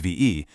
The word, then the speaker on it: Vie: V's, that's pronounced VE, groundbreaking concepts on biohacking consciousness for leaders of the future.